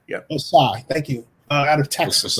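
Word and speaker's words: Ossai: And so, with that in mind, I'm going to take Joseph Osasi, if I pronounce his last name correct. Osai. It's Thank just Osai. Yep. Osai.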